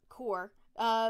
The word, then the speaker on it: Corps: And in 1946, the Corps, it's pronounced Corps. Corps, moved. How is that even? There's a P at the end. I don't know. It's a silent P. It's a silent P and a silent S.